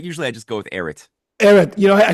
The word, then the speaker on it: Ehret: But usually I just go with Erit. Ehret. I sound like a Yes. foreigner who try to pronounce these unpronounceable Russian names, Davidov or something like that.